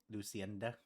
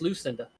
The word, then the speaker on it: Lucinda: And what the Is there a laundromat for Luc Lucenda? Yes, there is. No, it's just Lucinda. Oh, Lucinda. Yes, the E is silent.